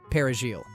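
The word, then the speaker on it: perejil: Soldiers go from town to town, forcing people to pronounce the Spanish word for parsley. Parajigil. Those who can't roll the R properly executed on the spot.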